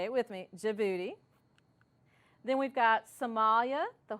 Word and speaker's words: Djibouti: some of my students say it with me Djibouti then we've got Somalia the Horn of Africa